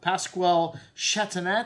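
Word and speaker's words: Pascal Chatonnet: Pasquale Chateaunet. That's how you pronounce that.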